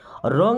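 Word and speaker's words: wrong: समझना मी मिस मुझे रंग मीस होता है गलत डोंट गेट मी रंग अब देखिए डब्लू के बाद कभी भी आर रहेगा ना तो डब्लू साइलेंट हो जाएगा यानी इसको नहीं पढ़ा जाएगा डोंट गेट मी रंग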